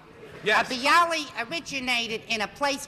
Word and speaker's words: bialy: Is that the way you pronounce it? A bialy. Yes. A bialy originated in a place called Bialystok, which used to be part of Poland, then became part of Russia.